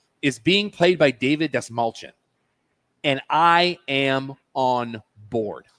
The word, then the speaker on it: Dastmalchian: And the way he says, how to remember to pronounce my last name, Desmalchin.